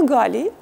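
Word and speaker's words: Гала: она елена представлялось она галлии на французский манер ударение на второй слог и оля и тут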